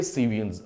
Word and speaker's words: cevians: सीवियंस। अगर मैं इसको लिखकर बताऊं स्पेलिंग कुछ इस तरह का होगा, CEVIANS, सीवियंस।